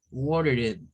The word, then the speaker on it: watered: Very nice with the D sound because and with an R, and the letter R is for a D zone. Watered.